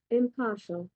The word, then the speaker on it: impartial: আপনার উচ্চারণ করে শোনাবে impartial, ইম্পার্শাল। এখন যদি এরপরও, এটা তো সহজ শব্দ, আপনি বুঝে ফেলছেন যে ইম্পার্শাল, এখানে আরটা হচ্ছে সাইলেন্ট মোডে থাকে।